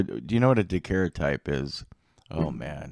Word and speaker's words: daguerreotype: you know what a dakera type is oh man how do i describe a daguerreotype bri i'll just let you know briefly the difference between a daguerreotype and it's pronounced daguerreotype and a photograph in